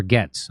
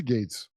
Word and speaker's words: Gaetz: they did to uh Matt Gates or Gats. I don't know how you say his name. I always said Gates, but it is Gates. It's Gates, right?